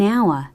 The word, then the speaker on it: hour: In an hour. 정답이죠. In an hour. 1시간 뒤. 이게 약간 연음이 되네요. H가 묵음이라서 붙어버려요.